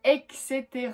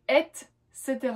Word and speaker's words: etc.: de prononciation, c'est-à-dire que moi avant je disais etc, comme si c'était écrit E, X, E, puis terra. Alors que non, c'est etc, donc E-T, C-E, T-E-R-A.